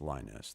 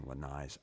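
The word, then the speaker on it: Lainez: I've done Linez, I guess is how it's pronounced. Linez. Thank you, Iowa Meat Sweats. Marco Linez. I kept saying Lanais.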